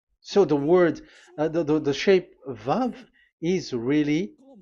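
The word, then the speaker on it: ו: So the way we read it is VAV. So we wrote it as Vav. We called it as Vav. Vav. Your claw, your mouth is like closed. Vav. So it's V as in Vogue. So it's really V.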